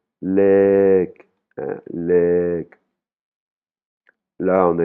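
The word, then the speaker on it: เลข: Là, par exemple, le numéro, c'est une voyelle longue lek hein, lek Là, on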